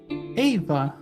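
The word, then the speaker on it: Éabha: spelled um uh e a b h a ava okay interesting interesting way to spell it okay uh okay the second name thank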